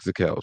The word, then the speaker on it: Zakelj: Now we got to talk about Nick Zakelj, man. We got Now, to talk do about you say the it's J in Zakelj. his name? The J is silent.